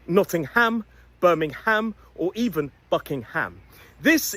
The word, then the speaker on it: Nottingham: It's a schwah and a Don't release that M.